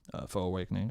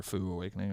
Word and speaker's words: Faux Awakening: It is fo fo. Okay. Foes like foes.